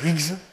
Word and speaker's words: Higgs: Et puis, il y a eu trois physiciens, dont un qui s'appelle Higgs. Higgs, ça s'écrit H-I-G, H-I-2-G-S.